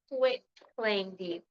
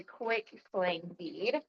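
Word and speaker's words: quitclaim deed: This week we are talking about quit claim deed, not to be mispronounced as a quick claim deed.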